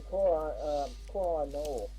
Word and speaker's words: Koh-i-Noor: They're going to sue the Queen to reacquire the Koh-i-Noor, I believe that's actually how it's pronounced, diamond.